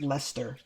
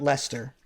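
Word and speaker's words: Leicester: in um it's pronounced Lester oh interesting really so the EI and the C are silent that's so weird all right Lester what a weird way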